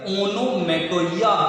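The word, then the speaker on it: onomatopoeia: And students, now it will be the chance for ओनोमेटोपोइया। आप पी को silent करके ओनोमेटोइया भी बोल सकते हैं और हिंदी में आप इसे बोलते हो ध्वनि सूचक अलंकार।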